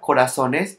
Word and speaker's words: corazones: For example, the word corazón has an accent when it is a singular because intensity of the voice is in the last syllable and end in N. And when it becomes plural, the intensity of the voice goes to the penultimate syllable, and since it ends in is, it no longer carries accent mark.